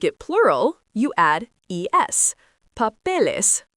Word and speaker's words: papeles: Papel becomes pa, pe, les, 3 syllables instead of 2.